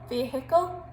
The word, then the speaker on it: vehicle: But it's quite handy to say it like an American. They say vehicle.